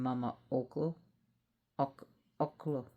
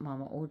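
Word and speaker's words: Mama Ocllo: And his children, like I said, were Mango Kapak, the emperor, and Mama Oak Oko, the um empress. I hope I'm pronouncing it right. I know it's not Mama Oo cuz it's not Spanish.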